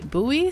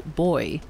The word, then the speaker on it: buoy: word some people say Bui sometimes some people say boy so I will try